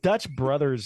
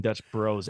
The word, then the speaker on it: Dutch Bros: Super Mario Brothers is pron it should be pronounced Brothers but Dutch Brothers sounds worse than Dutch Bros anyway and they spell it Bros bros it